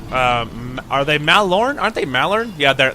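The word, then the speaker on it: Mallorn: many things wrong and it's mal Lauren not Malan anyway mal orange trees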